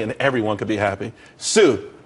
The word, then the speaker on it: TSU: Sue. TSU. It's pronounced Sue, though.